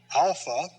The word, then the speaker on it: alpha: how they are written alpha ah now when i say alpha i'm showing you the symbol ah like our letter a i'm also showing